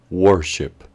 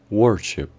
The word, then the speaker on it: worship: caso sería worship, worship, cuya pronunciación implica que la letra O sonaría como con un sonido tipo U, wor, y la letra I del final también tendría un sonido como si la I estuviera acompañada por una U.